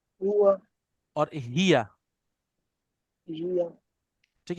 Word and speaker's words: هي: अच्छा, अब आप लोगों ने तीन प्रोनाउंस याद करने हैं। एक है अना, बोले अना। أنا أنا हुआ هو और हिया, هي ठीक है।